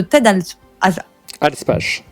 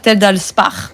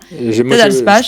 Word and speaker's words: Ted Alspach: C'est un jeu de Ted Alspach. Ah, tu le dis bien, hein. Moi, j'ai envie de dire Ted Alspach, parce que j'ai l'impression que ça se dit